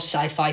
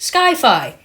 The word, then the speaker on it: sci-fi: Chronicle is a 2012 sci-fi thriller superhero movie directed by Josh Trank and written by Max Landis. And also, Jonathan James, if you're watching this video, it's not pronounced Sky-Fi.